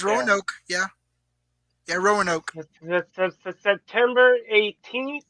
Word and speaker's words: Roanoke: The next one, Fabra War Games, Roanoke, Virginia. Can you pronounce Yep, that? yep, Or did I pronounce that right? yeah. Rowan, That's, yeah, I think it's yeah. Roanoke.